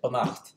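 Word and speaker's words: beannacht: the normal abstract ending, which is why we still say banacht and malacht with the stress on the second syllable.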